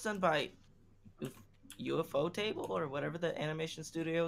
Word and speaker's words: Ufotable: UFO table makes a lot more sense, but they put it as one word, so I pronounced it out the whole way.